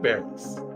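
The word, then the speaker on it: Barris: right Chuck Norris close it sounds like rhymes with Norris Chuck rhymes with Norris Chuck bars Chuck bars yeah he was actually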